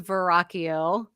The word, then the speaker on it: Verrocchio: So if you just go to Amazon and put my name in, and the last name is Verrocchio, Verrocchio. Spell it They again.